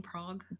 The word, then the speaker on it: Van Praagh: Is that how you say his name? Praagh? Praagh. I think it's 2 A's. Praagh. It's a log A sound.